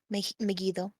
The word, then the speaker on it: Megido: actually don't know who to pronounce it's already megido yeah I'pretty sure that's it megido or Mido because I said mego mego okay yes one OU megone your name is megido you once had us a number of interests